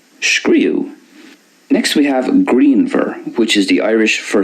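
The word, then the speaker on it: grianmhar: So there's more of a V sound for the Munster way, greenver, and more of a W sound at the end for the Connacht and Ulster way. So greenwer for Connacht Ulster, greenver for Munster.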